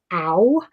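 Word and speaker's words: á: makes me chuckle um the word is ow so the a with the accent like that is pronounced uh like ow so that sentence like it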